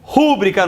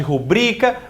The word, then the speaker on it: rubrica: Silabada, erro de pronúncia contra a acentuação da sílaba tônica. Então, púdico no lugar de pudico, rúbrica no lugar de rubrica.